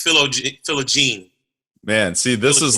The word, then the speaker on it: Philogene: i pronounce it correctly you were close it's philo gene man see this is